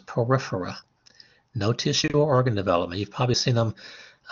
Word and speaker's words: Porifera: The first one, Porifera, you know a word that sounds similar to that, porous. So it's called Porifera.